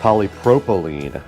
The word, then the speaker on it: polypropylene: This thing does have 6 3-inch balanced dynamic reinforced polypropylene. That's the correct pronunciation, and it does have one high resolution tweeter.